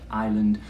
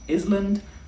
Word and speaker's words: island: You all may know the word island, but it's a difficult one to pronounce because it has a silent S. It has an S that we don't say. It's not island, island.